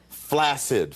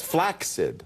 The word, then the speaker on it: flaccid: couple of other words flaccid for instance is not is is not the way to pronounce that word it's flaid like access or success you don't say